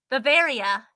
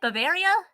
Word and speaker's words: Bavaria: Bavaria. Is that it? Bavaria? That's how it's usually pronounced, I believe. Yay, I said right. You're all good.